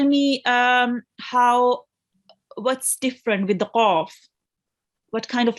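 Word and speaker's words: ق: And the other thing about qaf is it is a thick letter, meaning when you pronounce qaf, you have to round your mouth a bit. I won't say qa, I will say qa. Okay, so round your mouth a bit when we read the qaf.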